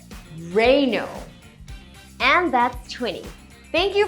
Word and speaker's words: Renault: This is probably one of the most commonly mispronounced car brands out there. I've heard Ree-not, Reh-nol, Rey-naul and so many more. But the correct pronunciation is actually really simple! It's Re-no!